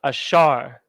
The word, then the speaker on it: Asher: ban the Seminole Indians Asher is pronounced ashar these are the ones